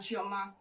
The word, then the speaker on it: Chioma: There's this particular couple, Paul and Chioma, let me pronounce it properly, Paul and Chioma.